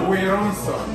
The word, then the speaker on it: Werrason: No, Weranson.